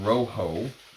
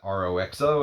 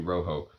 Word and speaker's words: Roxo: And this one's called Rojo, is how you're supposed to pronounce it. When I unboxed it, I said, is that R-O-X-O? Is it Roxo? It's actually Rojo.